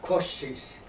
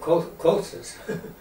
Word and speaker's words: Kościsz: Kościsz. Kościsz. How do you spell it? Kosciez. Kościsz, yeah, that's in Polish. We call it Kościsz in American.